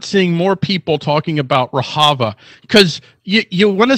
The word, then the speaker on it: Rojava: I keep saying Rojava. It's actually pronounced Rojava.